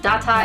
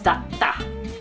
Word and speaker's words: datta: So for example, there's data versus datta. The latter has a small tsu between the da and the ta. So instead of data, it's datta.